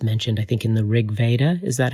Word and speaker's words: Rig Veda: of the gods mentioned i think in the rig veda is that how you say it yes yeah